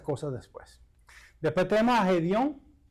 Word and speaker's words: Gedeón: Después tenemos a Gedeón. Oh, se dice Gedeón. ¿Cómo se dice? Gedeón. Gedeón. Gedeón.